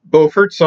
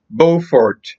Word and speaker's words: Beaufort: The one in North Carolina is pronounced Beaufort, as in bow and arrow. The one in South Carolina is pronounced Beaufort. In Morehead City, I met up with my new friends, Tommy and Les.